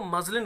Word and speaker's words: muslin: अब ऐसा एक शब्द होता है स्टूडेंट्स MUSLIN, इसको मजलिन बोलते हैं, ये होता है मलमल।